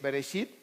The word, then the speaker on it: Bereshit: Se los puse ahí en hebreo, cómo se pronuncia el Bereshit, que es Génesis, Shemot.